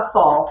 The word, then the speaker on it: Gasol: Is it Gasol? Is that how you say it? Yes, that's how you say it. Paul Gasol.